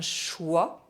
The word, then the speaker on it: choix: OI are pronounced wa, but IO are pronounced yo. Un choix, un chiot.